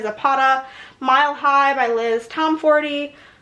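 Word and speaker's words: Tomforde: Mile High by Liz Tom 40, which is I think how you say it. I've heard different variations, but I'm pretty sure that's how she introduced herself in a in an interview.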